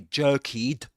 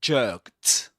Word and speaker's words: jerked: But we say we don't say jerkied. We say jerked. So the ending is pronounced as jerked.